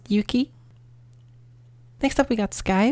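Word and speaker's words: 雪: Next we have snow, which has the rain kanji inside of it on top and then the e, pronounced yuki.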